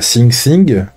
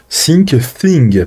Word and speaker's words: Syncthing: Via SyncThing. Je le prononce très mal. SyncThing, pardon. Le TH, là. Ils font chier les Anglais.